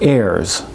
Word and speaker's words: heirs: For H I think of the word heirs. Now the H is silent.